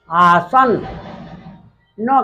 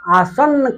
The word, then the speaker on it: आसन्न: आसन आसन आ आसन आसन न का थोड़ा उच्चारण करेंगे क्योंकि न में ह हलंत है आसन हलंत नहीं है पूरा न का उच्चारण करेंगे आसन दो न आसन